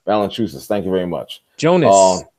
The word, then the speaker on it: Valanciunas: Oh God, I can't pronounce his damn name. Valanciunas. Valanciunas. Valanciunas.